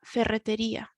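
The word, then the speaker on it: ferretería: la carniteria la ferreteria this is one that can cause problems with the pronunciation so we need to remember that we roll the double r's in spanish and then we've got the strong the strength at the end of the word la ferreteria the hardware shop la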